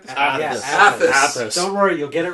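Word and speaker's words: Athas: we are traveling to the burnt world of Athus. I believe I said it right this time. Yes, Athus.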